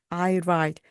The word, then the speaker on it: write: 이 write에서 앞에 W는요, 묵음입니다. 그래서 소리가 안 납니다. 그래서 그냥 I write.